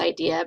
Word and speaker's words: IDEA: the name again um it still is pronounced idea but now it's the